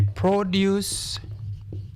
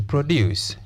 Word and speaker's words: produce: Because this word is preceded by the article the, it is a noun. Therefore, we stress which syllable? The first syllable. Was expensive to produce. Infinitive to precedes a verb. Therefore, we stress the second syllable.